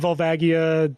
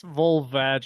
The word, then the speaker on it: Volvagia: night I just beat volvagia today yeah you're saying it wrong it's volvage yeah I beat vulva